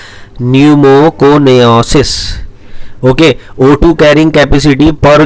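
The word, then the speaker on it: pneumoconiosis: यानी न्यूमोकोनाइसिस, पी तो साइलेंट रहता है, न्यूमोकोनियासिस।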